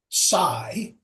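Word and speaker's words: psi: the first introduction of this symbol pronounced Sai if you put a little p in front of it Sai it's a Greek letter what Max borne showed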